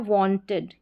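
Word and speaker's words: wanted: यहां पर है वांटेड। क्या है? वांटेड। वांटेड। इड करके साउंड आ रहा है।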